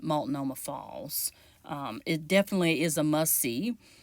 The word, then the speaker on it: Multnomah: to multnomah falls and i might be mispronouncing that but it's a consensus among residents that live here that that is how you pronounce it multnomah falls it definitely is a